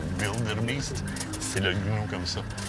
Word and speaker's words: Wildebeest: On les appelle, quand vous entendez Blue Wildebeest, c'est écrit avec un W, eux le prononcent Wildebeest.